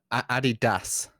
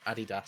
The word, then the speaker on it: Adidas: No, Adidas. So Das. like Das. Yeah, Adidas. Never in a No. million years did I think that's how it was supposed to pronounce.